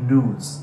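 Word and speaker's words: gnus: animals an implausibility of nudes not only does this animal have an unusual name that starts with a silent g it also looks unusual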